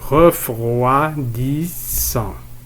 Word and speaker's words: refroidissant: إذا المقطع الأول هو ref. مقطع الصوت الثاني roi. ref roi. المقطع الثالث 10. المقطع الرابع 100. refroidissant. Je répète, refroidissant.